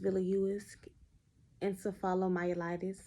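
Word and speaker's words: Viliuisk encephalomyelitis: and some information on a very rare disease pronounced villius encephalomyelitis and this presentation is presented by me of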